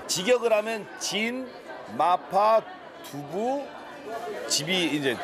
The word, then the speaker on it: 진: 我想买麻婆豆腐还有呢肥锅肉还有米饭谢谢이 집 상호에서 보시면 아시겠지만 이 집이 중국 발음으로는 천인데 한국 발음은 진이에요. 직역을 하면 진 마파 두부 집이 이제 진 마파 두부죠.